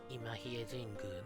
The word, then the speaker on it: 新日吉神宮: らということで、今比叡神宮のようですね。